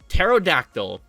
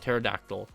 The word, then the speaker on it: pterodactyl: Pterodactyl. I have no idea why they put a P there, which is silent, but you know, I'm pretty sure that's how it's pronounced, right? Pterodactyl.